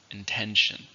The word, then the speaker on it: intention: How many syllables are in intend? 2, stress on the second, intend.